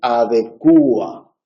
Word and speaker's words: adecúa: Bien, se ha extendido la pronunciación adecúa, en la que se acentúa la u. Ese acento sobre la u, que es el tramo vocálico más cerrado del diptongo, lo convierte en iato.